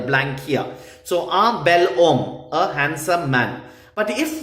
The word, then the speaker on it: homme: Homme begins with a silent H.